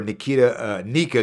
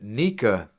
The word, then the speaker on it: Nyika: What I will say about Nika is that his last name is kind of hard to pronounce if you take away the silent Y.